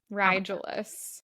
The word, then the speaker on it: Regulus: Rigulus is apparently how you say that. Yeah. Rigulus. Apparently, okay. That's how you say the actual star.